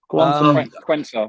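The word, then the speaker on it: Quansah: In terms of the young lads, boys, and I know got briefly mentioned, is it Quasi? Am I pronouncing that right? Quensa. What? Quensa.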